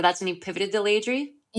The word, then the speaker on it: Laidrey: Um, and that's when you pivoted to I pronounced it incorrectly before, but that's when you pivoted to Leyri.